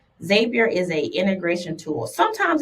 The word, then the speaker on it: Zapier: And then last but not least, I feel like this is the queen bee of AI, and that is Zapier or Zapier, however you want to pronounce it. Zapier is a integration tool.